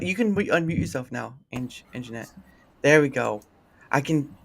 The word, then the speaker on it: Anjanette: I'm saying it right, Anjanette, right?